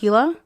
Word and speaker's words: Gila: It was somehow posted to it's spelled Gila, but I've heard it pronounced Gila. Gila River Sheriff County Office Facebook.